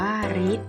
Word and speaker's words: ฤทธิ์: กับ สระ ก็ เช่น คำ ว่า ฤทธิ์ อ่าน ว่า ฤทธิ์ นะ คะ ฤทธิ์ หมาย